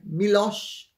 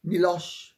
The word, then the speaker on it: Miloš: Some people would say it's George Soros, and that's how the name is pronounced. It's not Soros. S-O in Hungarian is S-H-O. And O-S is O-S-H, like Miloš Forman or Miloš Banfi.